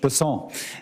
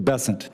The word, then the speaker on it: Bessent: Bessent, I'm always going to pronounce your name as if it was in South Louisiana, and I'm going to pronounce it with a French Bessent as opposed to Bessent.